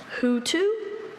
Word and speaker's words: hoatzin: Hoatzin? Hoatzin. Hoatzin. Imitative origin. Hoatzin. Means you spell it how it sounds.